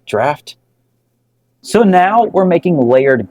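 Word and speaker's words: Draught: what's the difference between drought and extra Stout so believe it or not it's actually pronounced draft that's because this style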